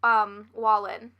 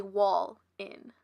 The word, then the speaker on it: Wallin: On January 23rd of 1978, he broke into the house of Teresa Wallin. I don't know if I'm pronouncing that right, but Wallin? It's literally Wall-in.